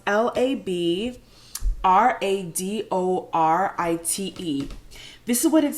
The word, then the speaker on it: labradorite: It's pronounced Labradorite.